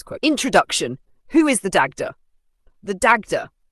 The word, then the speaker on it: Dagda: Who is the Dagda? The Dagda, pronounced D Jada, is one of the most powerful and beloved gods of the Irish toa Danan.